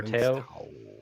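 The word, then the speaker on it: Men's Teioh: faki and I and men's towel. Men's towel or tail. Tail. Yeah. Yeah. Men's tail. Americans would say tail, but I think the the actual pronunciation is towel.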